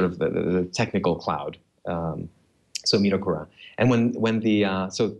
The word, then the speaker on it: Midokura: So Midokura.